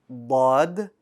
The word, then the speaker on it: ض: This letter is pronounced using the side of your tongue. Now you can do the right side, bod, or the left side, bod, or both sides, bod.